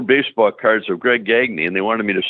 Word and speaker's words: Gagne: It's a French name. It's really Gagne is the way it's pronounced.